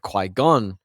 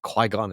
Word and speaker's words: Qui-Gon: If they both survive, Qui-Gon then go, why did I say it like that? Qui-Gon, it's like Saigon, then goes Qui-Gon goes and and um trains Anakin and he gets what he wants.